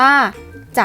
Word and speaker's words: จักร: ผ้า อุตสาหกรรม และ จักร เย็บ ผ้า อ่าน ว่า จาก เย็บ ถ้า จังหวะ จังหวะ อ่าน ว่า จังหวะ จัด